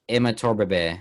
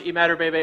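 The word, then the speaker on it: Imatorbhebhe: how this dude jumped so high but josh emma torba bay i don't know if i said that josh eat mad or baby i butchered that yeah it's josh you mad or baby i only know because i watch bengal on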